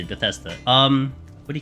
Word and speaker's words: Bethesda: Yeah, that's how you say it, Bethesda.